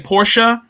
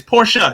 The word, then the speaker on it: Porsche: for anybody in here you heard her say porsha that is exactly the proper pronunciation and i learned that from angela reed